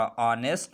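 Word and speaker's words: honest: से पहले H आया है तो इसलिए H साइलेंट है। आवर है, इसी तरह ऑनर है और इसी तरह ऑनेस्ट है और इसी तरह 10 है।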